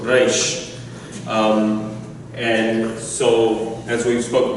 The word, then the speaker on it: Reish: So it's a reish from the back of the throat. Reish.